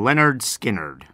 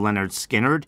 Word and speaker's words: Lynyrd Skynyrd: be doing this week is called Freebird from Leonard skinnard they spell that a little bit weirdly if you want to look up the band name Leonard skinnard it is spelled SP l y n y